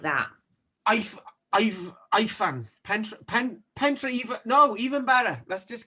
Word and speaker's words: Pentre Ifan: Pentre Ifan. No, even better. Let's just get like pronunciation. Pentre Ifan. Ifan. Yes. Pentre Ifan.